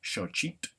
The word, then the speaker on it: xochitl: When you see an X in Nahuatl, it gives us the sh sound. In the book, they give us xochitl as the word for flower, and that's how you pronounce the X.